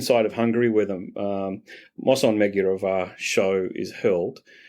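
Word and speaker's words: Mosonmagyaróvár: So the western side of Hungary, where the Moson Megyerovar show is held, and I'll pronounce that again in the Hungarian way, which is Moson Megyerovar. Moson is the correct pronunciation. Magyar means Hungarian. Ovar means fort.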